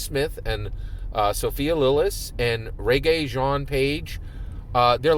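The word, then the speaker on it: Regé-Jean Page: I think I said Renee Jean in one of my previous videos. The correct pronunciation is Reggae Jean Page, right, from Bridgerton.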